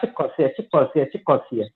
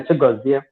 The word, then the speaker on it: Chigozie: So when she go to school, they will call her Chikosia. They can't pronounce the name Chigozie.